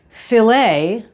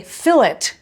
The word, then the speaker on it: filet: Take something simple like filet, right? Which is actually correct, but the English say fillet, because they refuse to pronounce it the way the French do.